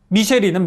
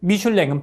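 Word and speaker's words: Michelin: 만든 이유는 뭔지 아세요 미쉐린은 미국식 발음이고 미슐랭은 프랑스식 발음인데 미쉘린 타이어는 사람들이 타이어에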